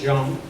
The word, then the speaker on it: Jean: It's a French John, so it's pronounced Jean.